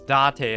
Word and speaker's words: Date: It's Date instead, but it's spelled date.